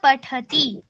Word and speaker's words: पठति: बालक पढ़ता है बालक पठति टी को दबाते नहीं है पठति ऐसे ऐसे नहीं बोलना है। सामान्य रूप से वैसे ही उच्चारण करना है जैसे पूर्व वर्णों का किया जा रहा है।